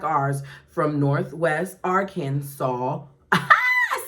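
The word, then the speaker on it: Arkansas: was saying it wrong I now know that the s in the end is silent Thank you Lisa for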